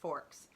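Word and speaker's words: Fawkes: Put a Guy Fox doll on top of the bonfire. Sorry, it's spelled F A W K S, but it's spel pronounced forks. Like, you know, knife and fork.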